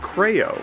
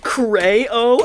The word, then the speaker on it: Creo: I would always pronounce it Creo, because that's like a word, right? And then the most annoying children committee sent all of their goons after me. Oh my gosh, bro pronounces it Cray-o. Oh my gosh, he's so stupid. Well, guess what? I learned recently that's how it's actually pronounced, you nerd.